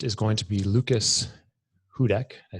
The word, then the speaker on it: Hudec: our first guest is going to be lucas hudak i said that right right yep nailed it